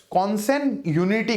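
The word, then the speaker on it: consanguinity: मैंने देखो ये जी रेड में किया है, ये जी साइलेंट होता है इस वर्ड के अंदर। ठीक है, कॉन्सेन यूनिटी कहते हैं इसे।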